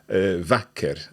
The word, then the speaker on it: vacker: So this is a shorter sound, so "vacker" as opposed to "bra".